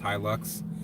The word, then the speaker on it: Hilux: still have that truck to you probably yeah hi luck okay so that's how it's pronounced hi looks I didn't know I used to have a